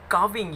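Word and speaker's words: calving: काविंग, यहाँ L silent होता है स्टूडेंट्स।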